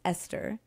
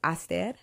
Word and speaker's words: Esther: name is you know English English pronunciation is Esther but Tigrinya the way we pronounce it in tuning in which I'm a return which is a Eastern African country small country so the way we pronounce is I stared so as to all